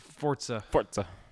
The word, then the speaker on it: Forza: Forza.